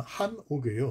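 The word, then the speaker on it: חנוך: 에녹이라는 이름 자체가 이게 원래 히브리 발음은 한옥이에요. 우리나라 예, 여기 우리 한옥집 전주에 가면 아주 아름다운 한옥집들이 많죠. 다른 데도 많고요. 예, 그 한옥과 발음이 비슷하죠.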